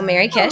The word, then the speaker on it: Merrykish: Well, I am on most major social channels, Twitter, Instagram, Blue Sky, under my name, but it's spelled MERRYKISH. So Mary Kish.